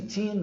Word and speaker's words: teen: a sílaba tônica de todos esses números. Então você deve bater forte aqui, ó, sempre aqui, tá vendo? Essa bolinha em inglês é muito utilizada, nós vamos ver isso em outras aulas também, para representar a sílaba tônica, tá? Isso aqui tudo é uma sílaba só, são 4 letras, tem 2 vogais, mas é um som só, ó. Você diz teen.